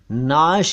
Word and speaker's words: नाश: भी बता दूं कि लाश को अरबी में नाश कहते हैं नाश उर्दू में कहूं तो नून ऐन और शीन नाश तो सब अलग शब अलग शव अलग हिंदी में एक शब्द है सत।